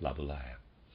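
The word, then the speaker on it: Laboulaye: Stewart Mill readers aside I'm pronouncing laaya probably incorrectly it's a French word I'm supposing and it's spelled l a b o u l a ye and I'm pronouncing that labula end of readers side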